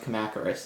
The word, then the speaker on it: Kamacuras: They might actually be called the Kamakura, because I couldn't quite make out the S sound when they were saying it in the Japanese version. But in the dub, I had always heard it pronounced Kamacuras, and so that's what I've always called them.